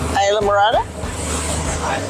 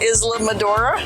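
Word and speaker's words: Islamorada: right up here is ISA marada marada thank you for pronouncing it not Isam madora I've been saying Islam madora on accident it's Isa marada they're having the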